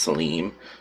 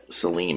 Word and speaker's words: Salim: I believe it's pronounced Salim. I work with someone whose name is Shalim, and it's spelled like Salim, except he has an H in it, so I'm assuming that's how you pronounce it.